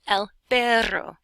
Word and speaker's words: el perro: but which is Vettel you say el perro and you roll your R's which eventually you can